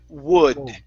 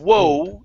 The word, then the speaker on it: would: Would. Wood. Oh, almost. You went back to whoa. Instead of whoa, it's would. Wood.